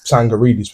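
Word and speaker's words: Tsangaridis: find me on Twitter, Sangaridis with a silent T, my surname, message me.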